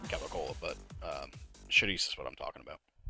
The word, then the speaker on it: chorizo: I do like Cavacol, but chorizo is what I'm talking about. Or chorizo, if you want to pronounce it wrong.